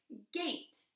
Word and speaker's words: gate: make sure over here first one says it's long sound the second one is silent well a lay late